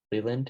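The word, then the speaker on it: Leyland: How do you say Leland? Leland? Yeah, Jim Leland.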